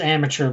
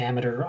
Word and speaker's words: amateur: word amateur a lot it is amateur but I say Amer wrong on purpose I do I I mispronounce words on purpose because I think it's